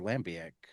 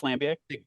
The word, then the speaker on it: Lambiek: Not far after their Wikipedia will be their Lambic. Interesting. So And for for that any, matter, half the time their Wikipedia, if you pay attention to the sources, yeah, Sites Lambic.